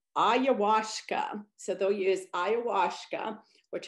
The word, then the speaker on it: ayahuasca: And they may use, oh, wait, I think I wrote somewhere how to pronounce this. Let me look at my paper. Yeah, it's ayahuasca.